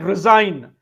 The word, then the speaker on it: resign: How do you pronounce it? Resign without G. resign. Resign it is sin. Resigns assign as ss i n. Same thing. So why do they put g there?